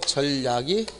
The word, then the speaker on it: 절약: 이때는 절약이라고 발음하게 됩니다. 따라서 소리상 니은이 첨가되지 않는 환경. 자칫 잘못해서 이 경우가 소리상 니은이 첨가돼가지고 절약이 절약 이렇게 하면 틀린다는 것, 이것도 좀 알고 읽기 바랍니다.